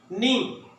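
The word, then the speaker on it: knee: नी, घुटने को कहते हैं। ये बच्चों की बुक्स के अंदर आमतौर पे आप देखते हैं टीचर्स पढ़ा रही हैं बच्चों को, नी के साइलेंट है इसके अंदर, आपको बताइए।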